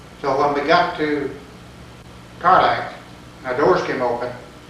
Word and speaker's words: Tarlac: Tarlac. T-A-R-L-A-C-K or? T-A-R-L-I-C-K. I believe they Tarlac.